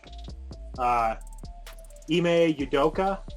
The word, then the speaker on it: Ime Udoka: So they have their new coach, Ime Udoka, I think is how you say his name.